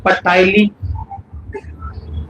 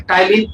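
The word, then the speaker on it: ptyalin: अब इस लार में एक और एंजाइम है जिसका नाम है पटालीन। इसका नाम है टलीन। पी साइलेंट रहता है।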